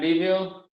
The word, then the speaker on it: Liviu: Next is Liviu, which I'm I'm sure I'm not pronouncing it properly. Yeah, almost. Do you hear me? Yes. Yeah. Great. So I'm Livio.